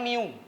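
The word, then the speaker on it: μ: gegesek itu adalah Miu nah ini cara bacanya Miu Miu koefisien gesekan Nah itulah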